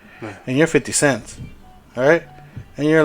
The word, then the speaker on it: 50 Cent: make but if you're 50 Cent's you're like 50 cents pretty Sam really that's what you say 50 cents okay well I like to say it like that I know it's 50 cent okay